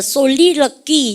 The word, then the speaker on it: soliloquy: 여러분들 솔리럭기. 여러분들 미가 발음 갖다 합시다. 솔리럭기. 그죠? 여러분들 QUY가 발음이 귀 발음입니다.